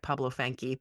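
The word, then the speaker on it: Pablo Fanque: poster was Pablo Funk, and they say it Pablo Fanke, but that's because it's kind of spelled like that, Fanke or whatever.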